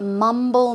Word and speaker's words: mumble: can you guess what mumble means I'll give you an example let's check it out okay so to mumble the stress goes on the first syllable for example it's mom